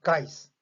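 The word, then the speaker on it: gás: 가스가 아니고 그냥 보통 보면은 guys 이렇게 발음이 들립니다.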